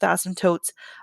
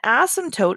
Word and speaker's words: asymptote: really haven't worked with asymptotes at all until now with 20-1 and so an asymptote and the p is silent an asymptote is a